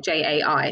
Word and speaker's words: Jai: saying it right because loads of people say j and it's not that it's not j-a-i so jai um and i'm a presenter from